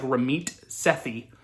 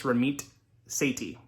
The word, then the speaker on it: Ramit Sethi: all right ramith is spelled r-a-m-i-t and seiti is spelled s-e-a-s-e-t-h okay so it looks like ramit sethi but it's not it's ramit seti okay his book now it's a total scammy